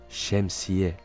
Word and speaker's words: şemsiye: Le S avec cédille se prononce ch, comme dans le mot şemsiye, qui signifie le parapluie.